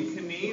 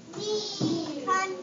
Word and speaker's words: knee: So would this be knee or knee? Knee. Yeah. Because the K is silent.